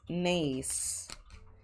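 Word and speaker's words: Knase: Now the next angle is nace. So we pronounce it n but the spelling is k n a s e.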